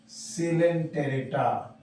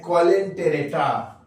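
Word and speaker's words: Coelenterata: दूसरा phylum सिलेंटेरेटा, लिखते हैं कॉलेंटेरेटा, पढ़ते हैं सिलेंटेरेटा, वो साइलेंट है, ध्यान से इसे पढ़ेंगे सिलेंटेरेटा।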